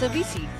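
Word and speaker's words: Avicii: Oh, it's Avisi.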